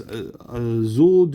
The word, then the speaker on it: Jules: So Jules, it's Zul du Cartel. Zul du Cartel. That's Jules. So that'd be Zul du Cartel.